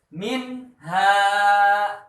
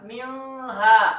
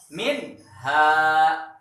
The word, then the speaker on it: minha: Cara membacanya jelas. Contoh, minha, minha. Jangan dibaca milha, salah. Ya, atau dibaca miha, salah. Yang betul dibaca minha.